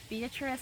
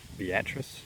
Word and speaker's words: Beatrice: you to pardon my ignorance I called it beatric and it's actually pronounced beatress beatric beatric Nebraska so the last view of